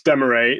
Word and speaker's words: Demay: uh you are interviewing Laura de deay is that how you pronounce her name well I was unsure as well but no it's Demay Laura deay is a